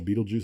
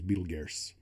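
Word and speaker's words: Betelgeuse: in orion and apparently the one we call beetlejuice is actually its real name is beetle is for proper pronunciation is betelges and i was like i don't see an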